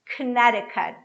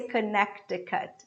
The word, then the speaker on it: Connecticut: is atlanta atlanta now one that is difficult for everybody connecticut connecticut so what i have here k ah this o is gonna be very brief so i say canada kinetic cut this t becomes a flap t con cd cut i don't say connect the cut okay kinetic cut connecticut connecticut just that all right uh